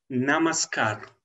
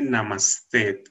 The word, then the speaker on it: namaskar: Namaskar, no se dice namaste.